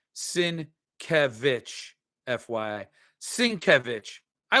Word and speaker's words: Sienkiewicz: Sienkiewicz is pronounced Sienkiewicz, FYI.